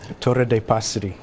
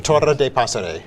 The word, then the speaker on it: Torre dei Passeri: Torre de Passeri. Okay, so you have to roll your R, first of all. I guess if you're... Torre de Passeri.